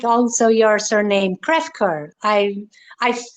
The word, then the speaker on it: Crefcoeur: like also your surname krefker i i it sounds french yeah it is french yes it is french